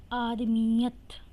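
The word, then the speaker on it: آدمیت: नीचे ज़ेर आ जाएगी आदमीत तो ये जो है वो दो दफा अदा हो रहा है एक दफा मीम के साथ और एक दफा अपनी आवाज दे रहा है तो हम इस पर तशदीद लगाएंगे शद और उसके ऊपर ज़बर लगाएंगे और ते साकिन रहने देंगे आदिमियत मंसब मीम पर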